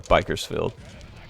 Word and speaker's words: Bakersfield: K is from Bakersfield, but you got to pronounce it right. If you're from if you're like real like, you know, Bakersfield, like methhead white trash, you got to pronounce it uh Bikerfield. So, like you're saying biker bikers field.